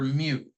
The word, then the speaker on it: mu: Greek this this is called the Greek letter me spelled mu it's pronounced like a kitten says me all right